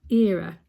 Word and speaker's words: Era: her in person and all this time I've been calling her IRA and she's never correcting me so Ira I sincerely apologize and I hope I'm now pronouncing your name correctly era um I got to